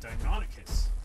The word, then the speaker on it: Deinonychus: And Deinonychus is how it's pronounced.